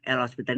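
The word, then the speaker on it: L'Hôpital: Nggak pakai S ya. Nama orang Perancis. Ya. L hospital nama orang. Jadi kalau ini pakai S, rumah sakit nanti. Hospitalnya ya kan. Jadi HO pakai topi. Jadi bacanya hospital.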